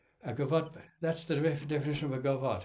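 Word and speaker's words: gavotte: one two yeah that's the definition of a govart it's it starts on the third beat of four oh how do you spell that g-a-v-o-t-t-e it's French okay um that's probably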